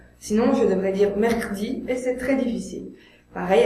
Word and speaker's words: mercredi: Attention, il y a une règle des 3 consonnes. S'il y a 2 consonnes avant le E muet et une après, on doit prononcer ce E, parce que c'est trop difficile pour un locuteur français de prononcer 3 consonnes d'affilée. Par exemple, mercredi. J'ai besoin de ce E dans mercredi.